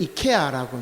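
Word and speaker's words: Achaea: 원래는 이케아라고 이제 원래 발음돼야 되는데, 우리 성경에는 참 말이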